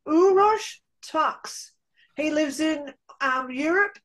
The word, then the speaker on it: Uros Taks: I'm here with the beautiful his name is pronounced uros tox he lives in um Europe and he is